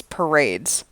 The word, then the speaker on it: Parades: Is it like Parades or Parade? And she was like, it's Parades. Like having a parade.